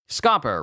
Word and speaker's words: Scopper: be horrible with anniversaries scoer rhymes with copper mhm or Chopper scopper